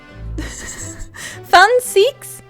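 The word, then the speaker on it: Van Zieks: And the V is pronounced with an F sound. Okay, with an extended I. So, Zeke. So it's fun. Fun Seeks? Fun Seek.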